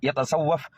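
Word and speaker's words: يتصوف: എന്തിനാ യതസവ്വഫ് എന്നാണ്, യസ്സഫ് എന്നല്ല. ഇതിന് മുന്നേ ഒരു വീഡിയോ ഇട്ടുണ്ടായിരുന്നു.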